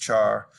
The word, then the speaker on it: char: say double a single character char that's usually pronounced char a sequence of characters string so for examples